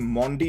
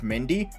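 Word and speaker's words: Mandi: chelsea by the way you actually pronounce his name mondi instead of mindy when i've been watching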